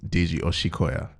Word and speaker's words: Deji Osikoya: This is Deji Osikoya. Am I saying it right? I mean, you were close. It's Deji Osikoya. So Deji Osikoya. say it like there's an S and an H.